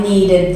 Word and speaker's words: needed: So that if the word ends in T or D, you pronounce the ED as id. So I wanted this, I needed this.